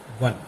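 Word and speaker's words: one: अब यहां पर ओ ओ एक वोवेल है लेकिन जब इसका उच्चारण करेंगे तो वन यहां पर उच्चारण में ओ कहीं नहीं आ रहा। यहां पर व आ रहा है।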